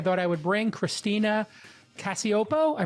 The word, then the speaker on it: Cacioppo: I thought I would bring Christina Cacioppo. I pronounced it correct.